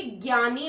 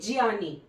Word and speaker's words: ज्ञानी: इसको कई लोग, जैसे मेरी प्रोफेसर थी, वो जब भी ज्ञानी बोलना होता था तो वो बोलती थी ज्ञानी। ठीक है, शुद्ध जो प्रोनाउंस करते हैं ना हम, वो यही है, ज्ञानी, ज्ञात।